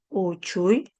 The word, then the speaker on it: uchuy: ¿Dónde debe estar ubicado mi lengua? En la cha. Mire acá. En la cha mi lengua debe estar eh digamos pegado a mi paladar.